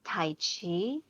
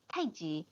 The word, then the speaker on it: tai chi: tai chi um because they see that it's spelled t-a-i-c-h so they pronounce it tai chi and then there's qigong